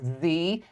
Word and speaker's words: dzi: I had to look it up because it is pronounced Z.